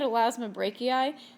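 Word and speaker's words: Elasmobranchii: This time they're in the class Elasmobrachii, and when we're looking at Elasmobrachii, this is pronounced E-I, not I-I.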